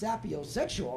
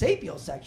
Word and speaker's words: sapiosexual: He's like, Pat, it's not pronounced sapiosexual, right? It's pronounced sapiosexual.